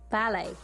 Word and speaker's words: ballet: gymnastics of course ballet we pronounce the word in the french way and so you omit the sound of the t to make ballet anyway it's to do ballet surfing correct to go